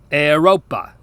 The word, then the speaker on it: Europa: If you just took the vowel sounds from the phrase hey you, you can hear this sound in Latin words, like the word for Europe, Europa.